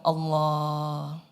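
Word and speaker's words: الله: Coba ucapkan Allah. Wujudkan sedikit. Ya Allah. Ya Allah. Lailahaillallah. Bergetar, kan? Selama pengucapannya benar, ia bergetar.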